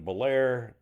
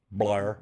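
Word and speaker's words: Bellaire: And then Saturday I was down in Bolair playing the Sons of Italy. I played with Poor Man. Um what? It's Blair's one syllable. Blair.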